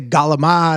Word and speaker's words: calamari: So that hard G, you know how like people in the north would say Galamad or right. So calamari is what you people say.